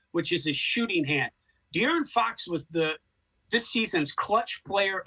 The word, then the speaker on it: De'Aaron Fox: Okay, so forgive me because I'm probably going to mispronounce this player's name, but is it Darren Fox or De'Aaron Fox? De'Aaron Fox. There you go.